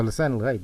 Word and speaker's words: lisan al-ghaib: So lisan al-ghaib is a perfect way of saying it, but they can't get anybody to pronounce it properly, even though they're surrounded by Arabs.